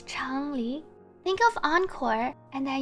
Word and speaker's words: Changli: So here's how you pronounce Changli. Think of encore, and then you combine the ch sound from chirp, ch, with the en sound from encore, an, and then add a li, Changli, Changli, Changli, Changli, Changli.